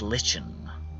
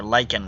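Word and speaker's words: lichen: chamber lit by phosphorescent Len or lyan I think it's pronounced I actually think Len is the British way to pronounce that but I will say ly stupid ly there we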